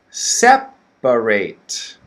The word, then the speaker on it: separate: and adjective okay the first one is separate separate three syllables the middle one is the schwa right separate okay so